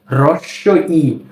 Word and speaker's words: হ্রস্ব ই: এরপর এই বর্ণটি হচ্ছে হ্রস্ব ই। এটা কি? হ্রস্ব ই। অনেকে এটাকে বলে হর্স্ব ই। না, হর্স্ব ই বলা যাবে না। এই বর্ণটির সঠিক উচ্চারণ হচ্ছে হ্রস্ব ই।